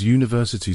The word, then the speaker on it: university: A university because university starts with a Y sound.